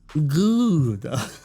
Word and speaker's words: Gouda: The correct pronunciation is Gouda.